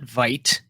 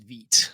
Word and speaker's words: Vite: uh so it's not vite it's vt it's a french pronunciation of it so this is uh